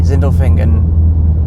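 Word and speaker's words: Sindelfingen: In front of us here is the Zindlefingen. That's probably not how you pronounce it. Yeah. No, that was good.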